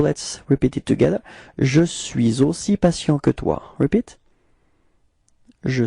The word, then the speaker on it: suis aussi: So you can see that between suis and aussi, we've got this liaison, suis aussi. Okay, so let's repeat it together. Je suis aussi patient que toi.